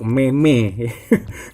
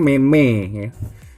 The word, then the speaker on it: meme: yang enggak tahu Meme Itu adalah ucapan yang bener untuk Memeh orang Indonesia bilangnya Mei Mei ini sedangkan yang benar kita Bacanya adalah Meme dia banyak itu memang